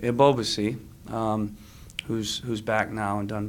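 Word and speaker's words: Ebobisse: run Jeremie of OBC I always pronounce it wrong a boba see that's how you pronounce it right once you get your brain wired on a pronunciation it's hard to break it a boba see who's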